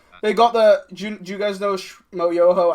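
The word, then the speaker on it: Schmoyoho: do you guys know mo Yoho Accent on the o the guys who do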